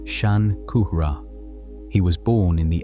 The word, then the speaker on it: Shankara: His name in the form that has reached English is Shankara pronounced Shan Kuhra.